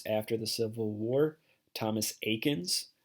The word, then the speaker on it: Eakins: most famous painters after the Civil War Thomas Eakins Aikens is spelled with an e e a ki NS so it looks like Ekans but it's pronounced Aikens he studied in Philadelphia and he spent his